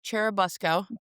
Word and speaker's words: Churubusco: And it looks like it should be Cherubusco, but I read on the internet people saying it's definitely Busco, so say it like Busco. Busco. Okay. Churubusco.